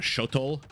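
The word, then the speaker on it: Xolotl: to call it a shotol shotol warrior or shot I'll figure out the name at some point it'll come to me but I think the x is pronounced like an sh and now a second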